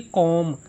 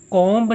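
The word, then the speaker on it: comb: कॉमब। कॉम्ब नहीं होता। B silent letter है।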